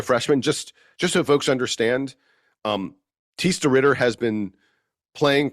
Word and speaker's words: Thijs: Thijs de Ridder is his name. His first name's spelled kind of weird, but it's pronounced Thijs.